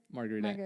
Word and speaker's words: Margarita: Margarita, yeah. Are you saying yeah, that's right. I'm saying it correctly? In the American way. In the American way, you are saying it perfectly.